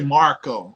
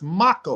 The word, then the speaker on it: Mako: People say Marco. I'm like, where are you that from? It's Mako.